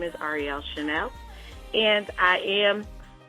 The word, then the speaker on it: Arielle Chanelle: on our show, and her name is Arielle Chanelle, right? That's right? I'm saying it right? Yes, you are. That's correct.